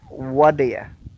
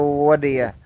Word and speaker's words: what do you: So notice the pronunciation here. It sounds like wadaya. So wadaya. So when you see what do you, instead of saying what do you say wadaya.